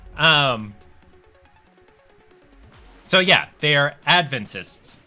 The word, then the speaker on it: Adventists: know the seventh day Adventists it's the wrong way to pronounce that because this is advent the emphasis is on the first syllable Advent so they are Adventists not Adventists and there have been